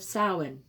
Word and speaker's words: Samhain: year the feast of soin smiling she said the strange word so it seemed to rhyme with plowing while it's true that